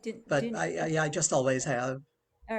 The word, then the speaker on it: Dunaif: Is that how you say it? Is that Yeah, right? that's pretty close. I say Dunaif.